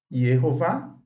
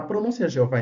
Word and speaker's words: Jeová: Sim, a pronúncia Jeová em português não está substituindo o hebraico.